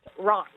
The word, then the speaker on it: Reims: You didn't say the town that I'm in, and it's Reims, France, but it's spelled Reims. That's pronounced Reims.